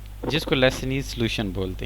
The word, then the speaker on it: Lassaigne: Might be की pronunciation मेरी गलत हो, स्पेलिंग में लिख देता हूँ, LASSAIGNE और ऊपर एप्स्ट्रॉफी के साथ ऐसे, लेसनीज टेस्ट है ये, जो पता नहीं लेसन्स टेस्ट है, जो भी है।